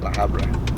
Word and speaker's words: La Habra: La Habra.